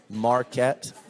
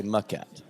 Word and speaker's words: Maquette: It's the most mispronounced thing. I would say that people say Marquette Yeah, more than they say Maquette.